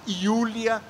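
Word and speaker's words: Julia: E, em terceiro lugar, Júlia, que depois passou a se chamar Iulia, em alemão se pronuncia o J como I.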